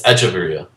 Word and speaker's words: Hechavarria: Is it the H silent in Hechavarria? It's Echevarria. No.